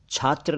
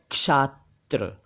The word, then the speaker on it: क्षात्र: मतलब है patience endurance एक शब्द है क्षात्र छात्र नहीं वो तो स्टूडेंट होता है यह है क्षात्र क्षात्र का मतलब है